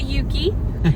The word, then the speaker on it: Ucluelet: back and um well the locals say Yuki Yuki is that what we were told that's what we were told we made it back to Yuki and I was really